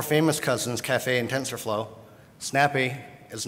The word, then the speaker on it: SNPE: It's pronounced Snappy.